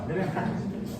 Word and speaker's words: Leeuwenhoek: Se pronuncia bien, Leeuwenhoek. Sería Anton van Leeuwenhoek. Así son los apellidos holandeses.